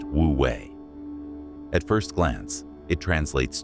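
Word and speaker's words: wu wei: It's called wooi, pronounced wooi.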